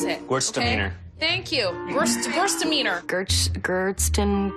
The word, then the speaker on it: Gewürztraminer: I don't know how to pronounce it. Gewürztraminer. Thank you. Gewürztraminer. Gerstenweiners.